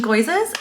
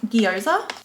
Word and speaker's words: gyoza: Crushed chili, frozen mango, frozen raspberries, sponges, dog treats, frozen goizers. We call them goizers, but I think they're actually pronounced gyoza.